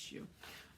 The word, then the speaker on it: Hsu: pretty okay yeah rasmus shoe beautiful um and shoe is spelled s s-h-u no s-s-h-u h-s-u it's pronounced shoe um but the schuyler shawl scarf was that